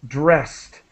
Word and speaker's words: dressed: And so just let me help you with the pronunciation of dressed. The ED is pronounced as quickly as possible as a T sound.